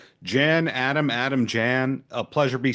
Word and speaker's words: Jan: So a lot of friends do call me Jan, but it is a Vietnamese name, so the correct pronunciation is Jan.